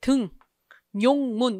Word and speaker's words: 등용문: 등, 용문 이렇게 돼야 돼. 우리가 얘를 용문 그러나? 아니지. 니은이 첨가되지 않고 그냥 표기 그대로 등용문 이렇게 발음하죠.